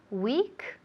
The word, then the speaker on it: week: Weak se pronuncia igual, absolutamente igual a la palabra semana en inglés. Week, débil, week, semana. Igual, pero claro, se escribe de forma distinta.